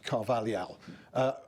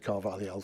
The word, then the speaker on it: Carvalhal: is not bad, because this kind of word like Carvalhal, is just in Portuguese. We have this Lhal. Yeah. And it's very difficult.